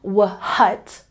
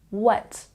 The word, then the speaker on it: what: we don't say the H sound we're not saying wut we're taking out the H sound and simply saying what you can focus on the W sound what or this one